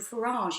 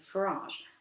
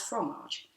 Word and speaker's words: Farage: King Boris had devised the nickname Cheesy-eyed from frequent and deliberate mispronunciations of Farage as fromage.